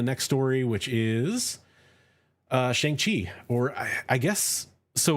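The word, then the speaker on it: Shang-Chi: right so i think i'm gonna say shang chi because i believe that's how it's actually supposed to be pronounced um but you know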